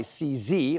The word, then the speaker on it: CZ: Well, Norah O'Donnell asked Trump about a recent pardon of a crypto billionaire, Chongpeng Zhao, who goes by CZ, rhymes with sleazy, and Norah pressed him on that.